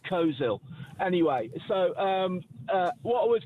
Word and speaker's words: Coleshill: Coleshill is pronounced Coleshill.